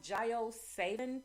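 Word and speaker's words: JioSaavn: one so that is i think it's pronounced jio savin but it's j-i-o-s-a-a-v-n and hopefully soon um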